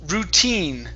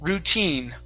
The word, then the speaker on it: routine: word here is pronounced routine the stress is on the very end routine routine routine very good all right